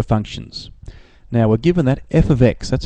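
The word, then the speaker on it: f(x): some notation for functions now we're given that F ofx that's how you say it f ofx so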